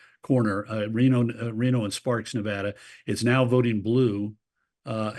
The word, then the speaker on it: Nevada: Silver State uh Nevada I pronounce it incorrectly almost always but I think I got it right that time no Nevada my Nevada sister says it my Nevada sister Nevada Nevada like Vlad so Nevada again it's been won